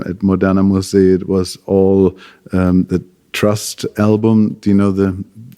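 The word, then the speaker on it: TRST: at mon M it was all um the trust album do you know the band The the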